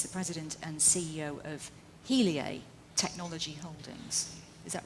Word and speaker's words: Heliae: Dan Simon, who is the president and CEO of Heliae Technology Holdings. Is that right, Dan? That's Did correct. I pronounce it right?